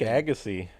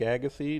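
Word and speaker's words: Agassiz: Lake Agassy. Don't know how to spell it. Fun name. It's like a g a ss i z, I believe. Something like that. It's a silent z.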